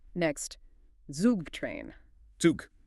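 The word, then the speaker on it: Zug: Zuk. Hear that sharp t for the z and the long ooh sound for the u.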